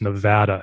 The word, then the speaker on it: Nevada: corrected by locals that it's nevada is the correct that fat a is the right way to say it i'm from the east